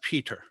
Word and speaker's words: Peter: we just don't do like my name here in rhode island in new england is peta it's not peter it's peta so i would try